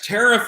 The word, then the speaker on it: Tariff: Yes, Tariff is the correct pronunciation of the last name, Mark.